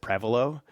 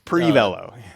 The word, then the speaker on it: Prevelo: pronounce it Prevelo.